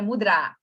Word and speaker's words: mudra: Então, a gente fala mudra, mas, na verdade, em sânscrito seria mudra. A sílaba mais forte é onde tem o acentozinho.